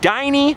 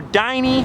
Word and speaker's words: Dinny: that right there is diny or well it's spelled dinny so some people say dinny dinny or diny and this over here